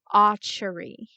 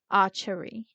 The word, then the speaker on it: Acheri: Okay, so today's episode we learn about a sad yet vengeful vengeful spirit known as the Acheri. Acheri. Say with me. Acheri. Acheri. So, I've been mispronouncing this for a while because I researched